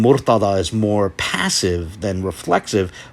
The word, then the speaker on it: Murtaḍa: own name, you know, saying Mortaza, or something like that, when really it's supposed to be Murtaḍa.